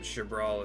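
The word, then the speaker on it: Xbr'aal: Shabbral is how that's pronounced. XBR apostrophe A. I keep doing XR. Jab.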